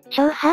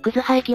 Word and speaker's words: 樟葉駅: は京阪本線の樟葉駅だよ最初なんて読むかわからなかったよ翔破って読む人もいるだろうねそうだな霊夢の言う通りで樟葉駅は関西の難読